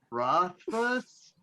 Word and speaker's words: Rothfuss: Rothfuss?